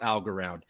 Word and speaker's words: Algorand: at this we've been kind of talking around al goran and i feel like we should probably talk about algorand al goran even maybe even say it right